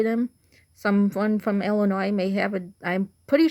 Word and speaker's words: Illinois: different way in its Illinois not Illinois you don't pronounce the S and it's Chicago not